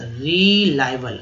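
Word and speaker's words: reliable: विश्वास पात्र, रिलायबल। आई देखिए ABLE को एबल बोलते हैं, आई का उच्चारण यहाँ पर आई के रूप में किया गया है, ठीक है। तो रिलायबल हो गया।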